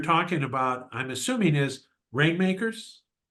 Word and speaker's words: RNMKRS: You say it rainmakers, but you spell it like it doesn't have any of the vowels in it.